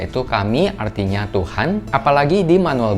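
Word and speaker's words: 神: bagian bahunya ini juga ada kanji Jepang yang dibacanya itu kami artinya Tuhan apalagi di manual booknya ini ada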